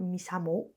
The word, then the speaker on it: MISAMO: I also want to talk about Misamo. I think you pronounce it like that because I will be